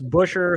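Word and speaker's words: Buescher: bell 25-1 eric jones 35-1 my boy chris busher who thank goodness we finally learned how to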